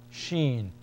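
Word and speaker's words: ش: hissing sound scen s the same shape is the letter Shen and this one has three dots above Shen sh sh s s a rounded sound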